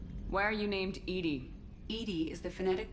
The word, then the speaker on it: EDI: of thing um why are you named edie edie is the phonetic pronunciation of edi that is an acronym for